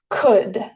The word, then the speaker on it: could: Could es una palabra difícil también de pronunciar. Se pronuncia could. Pueden imaginar que no está la L aquí y que solamente sería C-O-U-D.